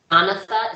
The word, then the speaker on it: Jonatha: or you said that jonatha it's like almost like Jonathan but jonath so if I interviewed